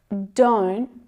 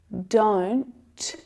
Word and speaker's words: don't: ooh do do don't the second is that stop te which is really really common instead of hearing that t sound fully aspirated with that release of air to make the sound the stop T stops it short before the air is released it's like you catch the sound listen to the difference